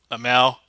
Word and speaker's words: Amell: Stephen Amell. Amell.